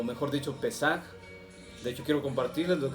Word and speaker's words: Pesaj: La palabra Pascua es de origen griego, pero realmente su etimología está en el hebreo, que quiere decir paso, y se pronuncia Pesaj.